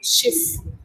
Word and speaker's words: Schiff: In German, that's pronounced like a double F, Schiff.